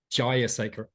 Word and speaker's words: Jayasekera: when we spoke earlier, I was like, Jayasekera, not Jay, and Ashanti.